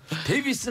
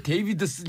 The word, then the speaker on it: 데이비드슨: 데이비슨 아니에요? 왜 데이비드슨? 아, 그러니까 굉장히 어렵게 만들어놨어요. 이게 발음이 데이비드슨입니다.